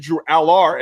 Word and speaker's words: Drew Allar: And it's like, well, it's actually Drew Allar.